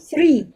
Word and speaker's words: three: say one two three so three if you just say three it's like tree like with branches and so it can have a different meaning if you don't pronounce that properly also um word collocation